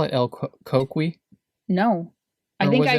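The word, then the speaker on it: coquí: like no it's like the accent is on the i you know the second syllable it's el coqui i didn't know that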